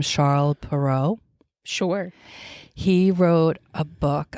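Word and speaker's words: Charles Perrault: of this Frenchman's name we would say Charles peralt I think you say in French you say his name charl perau sure he wrote a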